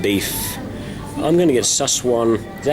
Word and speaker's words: Szechuan: I'm going to get Szechuan. Is that how you say it? Szechuan. Szechuan, yeah.